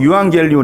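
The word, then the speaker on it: εὐαγγέλιον: 그 뉴스 라고 말씀드렸는데 헬라어로 유한 갤리온 이라고 읽습니다 이왕 길 을 위한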